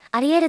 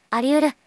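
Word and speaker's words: 有り得る: いう意味ですねアリエルと読む方が多いらしいですが正しくはあり得るですちなみにあり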